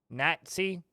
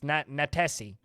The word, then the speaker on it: Natesi: Lucan RC, Kano, Lyagushka, Natsi, or no, it's Natesi is how you say that.